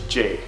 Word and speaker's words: Jay: So if you couldn't guess by my username, my name is Jay. Now it's pronounced like J-A-Y, but it's actually spelled like.